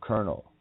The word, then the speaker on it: colonel: mass ejections how about colonel colonel colon L yeah the colon Uranus of Lucifer colon L Colonel they pronounce it in the military I'm going to have